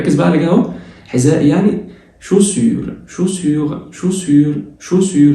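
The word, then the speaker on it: chaussures: بعد كده ركز بقى على كده اهو، حذاء يعني شوسيور الاي واليو بيتنطقوا او، تبقى شوسيور والاو والاس في الاخر ما بيتنطقوش.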